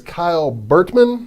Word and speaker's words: Kyle Burtman: Our guest today is Kyle Burtman.